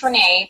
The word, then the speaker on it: Rena: It's pronounced Renee, but my mom Pardon spelled me. it a little differently.